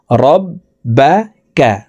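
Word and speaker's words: رَبَّكَ: বিনা রব্বাকা বা উপরে তাসদিদ আছে। তাসদিদ হরফ দুইবার উচ্চারণ করে পড়তে হবে। রব্বাকা র একবার বাকে ধরবে।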